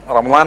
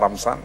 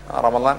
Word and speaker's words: റമദാൻ: രാത്രി റമദാന്റെ പാട്ടാണ് റമദാൻ എന്നാ പറയുക റംസാൻ എന്നാണെങ്കിലും റമദാൻ എന്നാണ് അതിന്റെ കറക്റ്റ് അതിന്റെ ഉച്ചാരണം പെരുന്നാൾ ഒക്കെ വരുമ്പോൾ എനിക്ക്